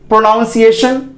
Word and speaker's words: pronunciation: तो इसका जो उच्चारण होगा, आप बताइए इसको आप कैसे बोलते हैं, प्रोनाउंस करते हैं PRONUNCIATION, इसको आप कैसे बोलते हैं, प्रोनाउंसिएशन।